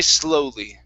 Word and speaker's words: slowly: last one here is slowly now here you had said slow okay going from an ah instead of ow it's o so it's an o sound to die slowly die slowly that's it